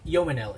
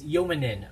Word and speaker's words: ยมนิล: Somebody in the comment section corrected that the correct pronunciation of Joe Yomanil, it's not Yomanil, it's Yomanin, right? Joe Yomanin.